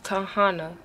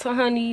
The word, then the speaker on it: Tahana: You say my name is pronounced like Tahana. Not Tahani, not Tahani, not Tahani, Tahana. Okay, it's Tahana, Tahana, Tahana, Tahana.